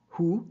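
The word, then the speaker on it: הוא: So now you know what the Hebrew word for he looks like in Hebrew, and you pronounce it hu.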